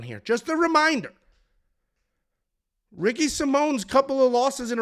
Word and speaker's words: Simon: no fancy Hispanic lettering it's just Ricky Simon but it's pronounced Simone he's taking on jvid